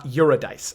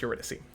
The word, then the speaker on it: Eurydice: okay nalphian and uh uradice i know it's eurydice i was just kidding i